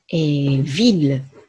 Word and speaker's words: ville: はい、まず 1 つ目は、ヴィル、ね、町、都市という意味の単語です。